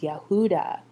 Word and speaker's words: Yehuda: we look today at the word Judah or in Hebrew it would be pronounced Yehuda the same four letters